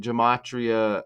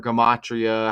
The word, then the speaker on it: gematria: But anyways, they call it gematria or gematria, however you want to pronounce it.